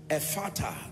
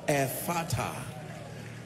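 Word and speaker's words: Ephphatha: Ephata, the ministry, the mystery of open doors. Ephata. Ephata is spelled E-P-H-P-H-A-T-H-A. E-P-H-P-H-A-T-H-A.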